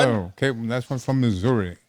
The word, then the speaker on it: Missouri: okay that's one from Missouri Missoura that's how they say it here you know Missoura Missouri